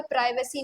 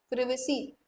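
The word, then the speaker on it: privacy: इसको कोई प्राइवेसी नहीं बोलेगा। प्रिवेसी, ब्रिटिश में ब्रिटिश प्रोनाउंसिएशन देख लो या तुम लोग इंडियन प्रोनाउंसिएशन देख लो, इसको प्रिवेसी बोलते हैं प्लीज।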